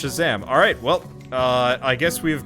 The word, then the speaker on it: Shazzam: It's actually pronounced Shazzam.